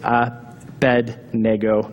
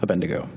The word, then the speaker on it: Abednego: So if you would like to humor me, you can call it Abednego, not Abednego.